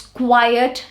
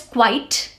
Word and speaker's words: quiet: They pronounce quiet and quite the same way. One is quite, the other is quiet. The pronunciations are different. Quiet is shh, when you're shushing someone. Shh, okay? That is QUIET, quiet.